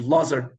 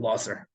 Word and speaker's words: Lazar: Reb Lazar, Reb Kalir. The Aleph is generally assumed to be silent in the names Lazer and Lazar.